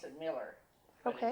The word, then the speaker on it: Mueller: I know a lot of people here pronounce it Mueller. Miller? Okay. They pronounce it Miller.